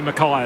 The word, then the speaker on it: Mackay: Which is definitely Mackay and not McKay as he kicks towards the hot spot.